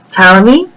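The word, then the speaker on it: Ptolemy: the scientists we have tmy the p is silent cernus and Kepler each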